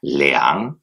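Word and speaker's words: 两: Ce caractère se dit donc leang. Ça s'écrit L-I-A-N-G, troisième ton. On ne dit pas liang, on dit liang. Vous voyez, c'est plutôt liang. Ok? Liang. On descend, remonte liang.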